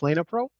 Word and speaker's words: Lena Pro: over to Steve from Lena Pro and I'm not sure I'm predict pronouncing that right am i Steve you are Steve Hallis it's Lena Pro hi my name is